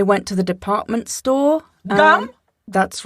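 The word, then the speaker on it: ГУМ: Gum? That's right. It's pronounced goom, but close.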